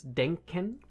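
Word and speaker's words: Denken: team um who the leader of whom is denen denen means thinking um then we do have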